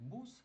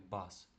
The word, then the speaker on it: bus: Відповідно автобус ми будемо читати не як бус, а як більше як бас.